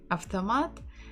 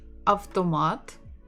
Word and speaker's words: автомат: But if you say автомат, it will be good. If you say автомат, it's also good. People will obviously and definitely understand you. None of them is a mistake.